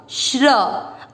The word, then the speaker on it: श्री: अब जो र पूरा है उस पर लग गया बड़ी ई की मात्रा, तो इसको बोला जाएगा श्री। जो भी बड़ी मात्रा होती है उसको उच्चारण में दीर्घ करना है, अधिक समय देना है।